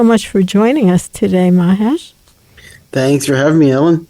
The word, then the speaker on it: Mahesh: for joining us today mahes thanks for having me Ellen am I saying your name correctly you're you're saying it correctly Mahesh In the Flesh that's a good way to remember it now tell us what